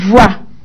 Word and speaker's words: voix: la console miettes x mais ça ne se prononcent pas des voix tandis qu'une voix des voix c'est variable n'est